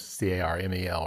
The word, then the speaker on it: Carmel: Carmel is Carmel, right? Carmel. So Yeah. there's no A in the middle there, which for caramel there is. So or caramel, Cara, like Louisville.